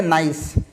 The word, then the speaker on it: gneiss: चौथे नंबर का है, अब ये है स्पेलिंग GNEISS, पर इसका प्रोनाउंसिएशन जो है वो हम करते हैं नाइस, नाइस की तरह, ठीक है।